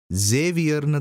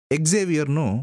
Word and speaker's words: Xavier: சேவியர் தான் அதிகமா இருக்கும் ஒவ்வொரு ஊர்லயும் இதை ஒவ்வொரு மாதிரி உச்சரிப்பாங்க சேவியர்னு தான் பொதுவான உச்சரிப்பு எக்ஸேவியர்னும் உச்சரிக்கிறது உண்டு அது அபூர்வம் ஹவிய ஹவியர் இப்படி உச்சரிக்கிற வழக்கமும் இருக்குது நம்ம தமிழ்நாட்டுல சேவியர்ன்னு உச்சரிக்கிறோம் என்ன விஷயம்னா சேவியர் என்கிற